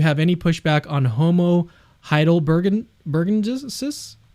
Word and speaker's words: heidelbergensis: I'm curious if you have any pushback on Homo heidelbergensis?